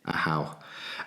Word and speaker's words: AHU: Firstly, did I pronounce it right? And did I describe it correctly? Yes, AHU. Yes, that's right. AHU.